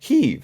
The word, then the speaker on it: Kyiv: Picasso says, it seems that in Ukraine it is pronounced Kyiv.